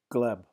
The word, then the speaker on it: Gleb: with Abby that's hideous way to remember it gleb got it and how do you say your